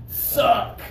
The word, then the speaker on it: suck: right okay everybody ready suck suck yeah suck got to have the pressure the pr pressure is very important okay this vacuum cleaner